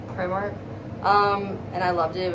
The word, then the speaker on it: Primark: I got it at Primark, which I think that's how the Brits pronounce it, Primark.